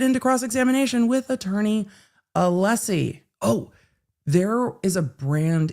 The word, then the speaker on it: Alessi: the exact same way Allessie's name is spelled. And I'm like, Dr. B. Dr. B, how would you um how would you pronounce this? And he was like, Allessie. I'm like, not Alisi.